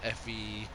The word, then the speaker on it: Fendt: Fendt. Fendt. The D is silent.